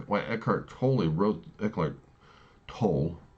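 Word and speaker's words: Eckhart Tolle: Why eart toy wrote eart tol now that I know the pronounce of his name eart tol that's why he wrote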